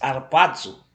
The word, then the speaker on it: harpazo: A palavra grega para arrebatamento é harpazo. Nós temos aí a forma grega de se escrever a palavra. Se diz harpazo, e essa palavra ocorre 13 vezes no Novo Testamento.